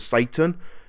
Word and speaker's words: Satan: character called her kill or Mr Satan in that and or Mr sattin it depends how they pronounce it but essentially they see